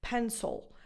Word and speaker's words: pencil: Now this schwa, right before the L, sounds a little bit different, pencil. Because you have to pronounce the L, this schwa morphs into a sound that sounds to your Italian ears more like an O.